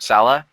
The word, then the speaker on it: Saleh: division other than robert sala which is how i think you should say his name uh they're all proven